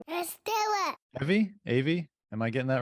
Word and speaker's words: Eyvy: Eyvy, am I getting that right? Eyvy. You can call me Eyvy. It's a fake name anyway, so it doesn't matter. Eyvy? Eyvy, yeah. Okay, good. like poison ivy.